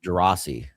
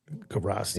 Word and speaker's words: Gerace: I never know. Gerace is how I say his name. Gerace.